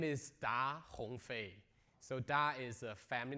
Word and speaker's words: Da Hongfei: again yeah because probably many of you cannot pronounce my name correctly yeah my name is da Hong Fei so da is a family name in China